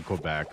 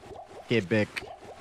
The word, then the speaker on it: Quebec: Kebec, huh? Is that how you say it? Quebec. Um, if you're if you're non French, you just say Quebec. But Kebec, that's how the Frenchies like to say it.